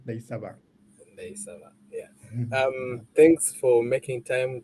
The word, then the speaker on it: Ndayisaba: Ndayisaba. Ndayisaba.